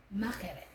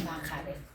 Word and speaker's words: mackerel: Makirel. Not makarel. Makirel.